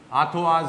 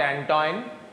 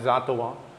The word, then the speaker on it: Antoine: we use the empirical atwas equation it's not antoine it's atwa it's pronounced as atawa and what is that